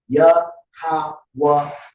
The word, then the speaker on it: Yahawah: And when you look into the word Lord there in all caps, in the Hebrew it was written YAHAWAH, and you pronounce it Yahawah.